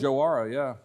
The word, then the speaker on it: Joara: But just tell me a little bit about Joara. Am I saying it correctly? Yeah, Joara.